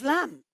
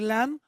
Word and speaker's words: lamb: The third word is lamb. So the B, of course, here is not pronounced. So we say lamb instead of lamb.